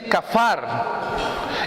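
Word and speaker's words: כפר: aquí por expiación pues es una palabra hebrea que se pronuncia así cafar y es cubrir o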